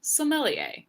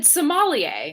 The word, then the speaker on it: sommelier: __ ] fact that that's pronounced sommelier like a ma not a ma um and then every other person that ever referenced mr sommelier said somalia and i said no it's not i thought it was